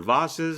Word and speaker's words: vases: And there's large vases or vases, as some people pronounce.